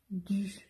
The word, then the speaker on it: du: ¿Cómo pronunciamos la U? Hacemos una I para practicarlo. I, U, du, du.